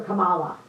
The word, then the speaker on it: Kamala: with all his degrees cannot pronounce her name he calls her Kamala you can't pronounce her name it's not that hard Kamala Kamala Kamala um let's see my